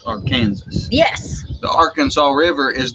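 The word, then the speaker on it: Arkansas City: kansas city and but our kansas city is actually pronounced our kansas yes the arkansas river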